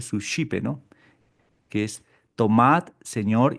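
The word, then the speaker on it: Suscipe: El susipe se escribe en latín, pero se pronuncia sus chipe, ¿no?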